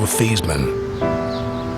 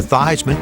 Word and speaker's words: Theismann: We're going to change your name from Theismann to Theismann to rhyme with Heisman.